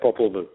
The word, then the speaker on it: Popol Vuh: But in Lucifer's Revenge, you talk about the Popol Vuh. Am I pronouncing that correct? Yeah, Popol Vuh.